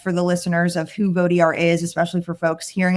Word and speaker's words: Vot-ER: background and context for the listeners of who voter is, especially for folks hearing it for the first time, I know the spelling is funny. It is VO t-er, but it's pronounced vote er and we are a nonpartisan nonprofit that works